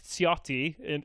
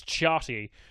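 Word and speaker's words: Ciotti: is a man called Eric cotti pronounced in the French but if we all look at it in reasonable and see like oh that's chatty that man is from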